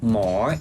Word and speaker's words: หมอ: And there's also a Mor Shit BTS station. As I mentioned before, when you pronounce the word, you have to say it with a rising tone for more, not more, okay?